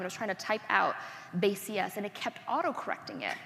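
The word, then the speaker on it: BaseCS: So the joke is that it's pronounced base CS, but it's spelled like basics, like the basics of computer science.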